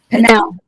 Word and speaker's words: Pinal: And Pinal County, am I saying that right? How do you say it right? Pinal. Pinal? Okay, thank you.